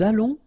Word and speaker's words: allons: O and together, it's on. and then we'll make this little link between the two, what we call the liaison, nous allons.